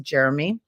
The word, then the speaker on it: Jerome: Drew nicknamed him Jeromey because his name's spelt Jerome, but it's pronounced Jeremy.